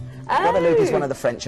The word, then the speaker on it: Guadeloupe: How do you pronounce this? Guadeloupe. Guadeloupe is one of the French islands they have here in this part of the world.